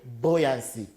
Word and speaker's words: buoyancy: force buoyancy yes buoyancy it is almost pronounced right now what boy boy whatever is you the pronunciation remains the same boy buoyancy he's gotta use the